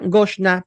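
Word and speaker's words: גשנה: La diferencia es que en la primera ocasión que encontramos en este verso Goshen, tiene una Hei final, lo cual lo hace femenino y se pronuncia Goshna por la gramática, leyes de gramática hebrea.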